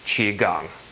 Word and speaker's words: Qigong: it is Beijing so what you may see written as key gong or chi khong has now been changed to reflect the more mainstream Chinese pronunciation which is Qigong ok so what can